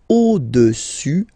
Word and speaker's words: au-dessus: Le cube est au-dessus, final S not pronounced here, au-dessus du cylindre.